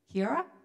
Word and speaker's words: Kia ora: Kia ora.